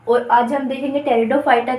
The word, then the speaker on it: Pteridophyta: इसके अंदर आते हैं यह पीड़ित बच्चों साइलेंट रहता है इसीलिए हम इसको टेरिडोफाइटा भी बोलेंगे कभी आप यह बोल दोगी पटेटो पॉइंट यह नहीं होगा इसका यह क्या है